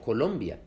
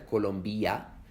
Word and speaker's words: Colombia: Esto se oye en palabras como Colombia, que no se pronuncian Colombia, se pronuncian Colombia, o Bolivia, o Puerto Rico, que no es Puerto Rico, es Puerto Rico, o también en Venezuela o Guatemala.